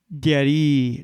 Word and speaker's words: Diary: I specified, yes, the spelling is the same, but the pronunciation is different. Diary. I articulated more slowly and clearly with my mouth. Oh, I got it. Your name is pronounced like dairy milk. By this point, I lost my temper. No, it does not pronounce like milk products.